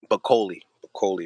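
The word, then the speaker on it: Bakole: Do you know how to pronounce his last name? I think it's Martin Bacoli. Bacoli, that's right.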